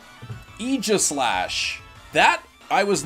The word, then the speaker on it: Aegislash: pronounced Egypt slash Aegislash that I was not expecting all right Aegislash okay it's not EG it's Aegislash that's weird family ruin